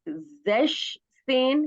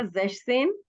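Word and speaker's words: sechzehn: 16 17 में थोड़ा सा आपको याद रखना है जैश सेन, क्योंकि यहाँ पे जेक्स के अंदर से एस हटा देना है, तो ये आपका बन जाएगा जैश सेन।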